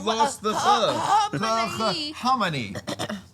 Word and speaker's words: Khamenei: Okay, it's spelled with an H, It's spelled KH. so it's Kamani. No, it's Khamenei because KH is how you spell We ch. spell the ch with CH.